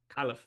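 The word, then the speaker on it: Kalif: four now so yeah and yeah well okay khif Raymond is receiver four like ap's telling me I'm pronouncing khif wrong I love this this is good it's khif kif um yeah okay so so Osborne is is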